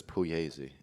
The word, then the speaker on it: Puglisi: that's my last name i'm puglisi but it's puyzy in italian i was wondering what